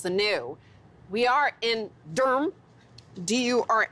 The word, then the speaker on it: Durham: the old becomes the new we are in Durham do you are M as they pronounce it here that's why I got the